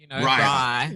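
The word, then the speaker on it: braai: She would say something like a bri, Bri.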